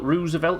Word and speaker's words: Roosevelt: China war that caused the Apocalypse Roosevelt Roosevelt Roosevelt is how you say it Roosevelt Roosevelt towns